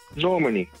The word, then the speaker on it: Normani: Normani, that's her name.